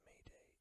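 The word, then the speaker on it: m'aidez: It comes from the French term Medeis, which is pronounced Mayday and means help me.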